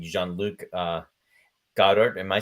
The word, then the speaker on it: Godard: just just enter interjecting he's saying Jean-Luc uh Goddard am I pronouncing his name incorrectly no no no good